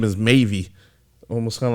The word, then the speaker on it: MAVE: like just like yeah they said it's uh maybe um is the proper way of uh like pronouncing the group name and everything like I